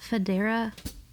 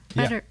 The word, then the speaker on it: Federer: for for isn't there something like that federa you're putting that emphasis on the wrong thing and then you're ending it with the wrong battle Federal keep going better again better better Federer Federer yeah yeah Roger